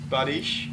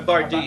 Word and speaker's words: bardiche: sides and- Badish. A bardiche.